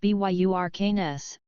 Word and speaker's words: Bjerknes: group were Ville helm Bjerknes pronounced BYU arcane s his son Jacob Bjerknes